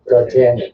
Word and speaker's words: D'Artagnan: D'Artagnan.